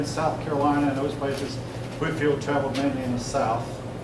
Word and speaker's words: Whitefield: in Georgia named after except we call it Whitfield I've see her deadening pronounced Whitfield in Whitefield these were the leaders